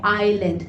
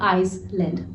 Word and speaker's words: island: इसमें आइलैंड में S letter silent है, तो आप कहेंगे आइलैंड, ना कि आइसलैंड।